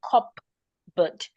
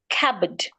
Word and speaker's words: cupboard: If I have the word cupboard, cabbed, the letter P is also not saying anything. So I should not say cupboard. I should say cabb kab cabbad the p should not be said.